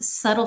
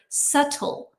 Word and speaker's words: subtle: Subtle. Subtle. So, yeah, B silent. T definitely not silent.